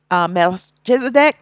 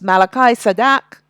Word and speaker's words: Melchizedek: order of Malachi sadak that is Melchizedek that's the way how you pronounce it in English but it's Malachi sadak and the high priest